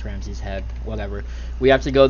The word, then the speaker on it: Ramsees Hed: when I played this I was pronounced at Ramses he but I think it's actually pronounced Ramsey's head whatever we have to